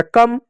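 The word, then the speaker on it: come: अगला शब्द देखिए, सी का होगा क, ओ साइलेंट होगा, एम का होगा म, ई भी साइलेंट होगा, हो गया कम।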